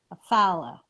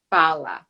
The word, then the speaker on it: Fallah: introduce you properly and give me the right pronunciation of your last name follow follow all right today my